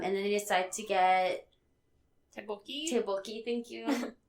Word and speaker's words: tteokbokki: Tteokbokki, thank you. It's those extra Ks that kind of throw me off. Silent? Is it kind of there? Kind of. I'm not really the person to ask. Tteokbokki.